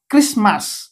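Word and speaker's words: Christmas: এ আর আই ক্রিস ক্রিসটি silent mass ক্রিসমাস খ্রিস্টমাস ক্রিসমাস ক্রিসমাস okay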